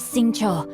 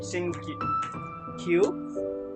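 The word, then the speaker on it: Xingqiu: You know, at least you pronounced it for me, because it's gonna be... I was gonna try to say Sing Q.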